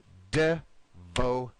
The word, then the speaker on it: devoted: again right here Eduardo we need three syllables it's going to be devoted okay one more time devoted devoted go ahead Eduardo they okay now we want to make this our stress vote in the middle so it's going to